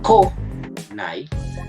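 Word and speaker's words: 来ない: Aquí sería ko, nai.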